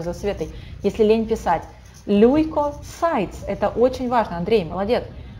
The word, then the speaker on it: leukocytes: Leukocytes, прекрасно. Все, пожалуйста, повторите хотя бы за Светой, если лень писать. Leukocytes.